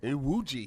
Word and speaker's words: Iwuji: Sorry if I say your last name wrong, but is it Iwuji? Iwuji.